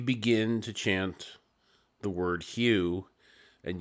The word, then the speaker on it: HU: And then you begin to chant the word hue. And you pronounce the H and then U.